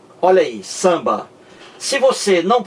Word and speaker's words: samba: Veja como se pronuncia samba. O M não está aqui. O M é apenas um sinal de nasalização da vogal anterior, dizendo que essa vogal ela é nasal e não oral. Olha aí, samba.